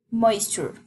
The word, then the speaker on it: moisture: En este caso es moisture, because the E doesn't pronounce, porque la E no la pronunciamos.